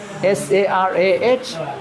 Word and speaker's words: Sarah: Some people pronounce s which is sarah. American is sarah. S a r a h. There's h but sarah.